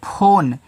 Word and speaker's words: phone: फोन लिखा गया, तो PH से फा, ओ से ओ की मात्रा बनती है, एन से ना बनता है। यहाँ ई का प्रोनाउंसिएशन नहीं होगा, यानी कि उच्चारण नहीं करोगे, क्योंकि ए आपका एक इंग्लिश वर्ड है। इंग्लिश में लास्ट में आने वाले ई को साइलेंट रखा जाता है, ठीक है।